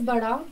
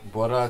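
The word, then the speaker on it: बड़ा: Big is bada, small is chota. Bora chota? Yeah. Bora chota. Bora is big? Bada is big. Okay, like B for big.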